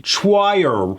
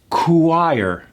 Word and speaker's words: choir: It looks like it should be choir, but it's actually pronounced choir.